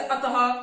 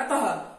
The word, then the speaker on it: अतः: में होता है, जैसे अतः, प्रातः, पुनः, ये विसर्ग का उच्चारण जो है ह की तरह होता है। जैसे आप बोलेंगे अतः, पुनः, प्रातः, ये उच्चारण ह में कहलाता है।